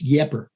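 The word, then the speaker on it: Ieper: people from minnesota wisconsin like eep is the french is my understanding anyway and we're out a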